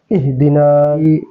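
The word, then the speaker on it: اهدنا: পড়ি দেখুন ইহ দিদিনা এই হার উচ্চারণটা যাতে এই হায় সেটার প্রতি লক্ষ্য রাখতে হবে ইহদিনা এভাবে যদি না হয় একদম নরম আওয়াজে সুন্দর হবে ইহদিনা তাল জেরি নুন আলিফ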